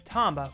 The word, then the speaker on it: Tomba: tomba you mean tomba the japanese pronunciation is tomba which will make the